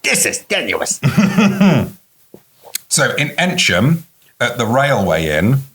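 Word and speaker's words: Eynsham: at the railway in is that how that's pronounced e y n s h a m wow enum yeah what would you have said I would have said an aam call me a offc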